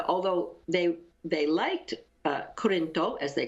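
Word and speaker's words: クリント: you tell us again how the Japanese pronounce Clint's name? Can you say that? What do they call him? Kurinto.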